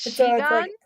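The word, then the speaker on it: 시간: oh she got it says it like in Korean oh it's she gone oh yeah yeah she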